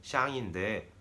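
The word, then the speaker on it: 向: 이렇게 한국의 방향의 향만 빼서 그게 중국어로는 발음이 샹인데 요거 아닙니다.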